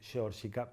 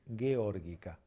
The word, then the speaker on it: geórgica: Incluso si nosotros sabemos que es un pato que puede verse en las Islas Georgias, a veces suena como cheto decir georgica, no, es geórgica.